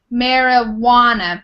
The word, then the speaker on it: marijuana: so it's mighty merit we say in English marijuana so it's a kind of like a W therefore that J instead